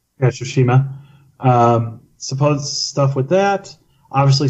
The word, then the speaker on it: Tsushima: Oh, Ghost of Tsushima. Yeah, Tsushima.